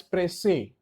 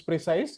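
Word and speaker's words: précis: Again, I'm going to pronounce it as presse. Some people will say it is precise. It's up to you.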